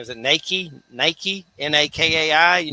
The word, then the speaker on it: Nakai: Is it Nike? Nike? Nakai? He Nakai.